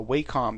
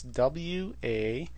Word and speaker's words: Wacom: idea of using a what's called a a wacom tablet it's spelled wac what is it it's not that it's w-a-c-o-m it's a wacom tablet and i will see